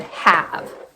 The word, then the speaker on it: have: What's my vowel sound? A. That's short a. But my word ends in vv. We can't end in v. So, we're going to have to add a silent e there.